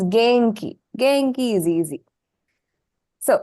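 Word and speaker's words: げんき: So in this word, the second sound in is pronounced as in, the na sound. Okay. You won't say gemki, not required. That is a little bit more difficult to pronounce. So it's genki.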